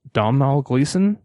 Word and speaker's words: Domhnall Gleeson: The actress, I believe it's pronounced Domhnall Gleeson, British actor, who was in the movie About Time.